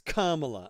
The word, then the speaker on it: Kamala: You wouldn't call somebody who's named Pamela. It's Kamala, okay? Otherwise, you're racist. No, Kamala really, Kamala, I can't say her name right.